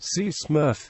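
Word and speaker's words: CCMRF: consequence management response Force its acronym ccmf is pronounced C Smurf and the unit is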